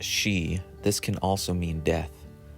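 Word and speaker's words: 四: number four is very unlucky in Japanese culture pronounced she this can also mean death when giving gifts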